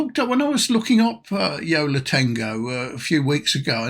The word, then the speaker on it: Yo La Tengo: It's Yo La Tengo, not as I always call it, Yo La Tango.